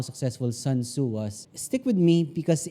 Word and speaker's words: Sun Tzu: art of war by sun tzu that's how you say it sun tzu has been